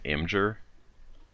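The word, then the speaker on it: Imgur: and I've been using I think it's pronounced amjur I am G you are mm-hmm so I've been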